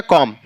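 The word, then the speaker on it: calm: pronounce क्या हो जाएगा कॉम ऐसे यहां सी ए एल एफ ये क्या है एफ एफ से पहले एल है तो एल साइलेंट हो जाए तो क्या हो जाएगा कॉफ ऐसे यहां के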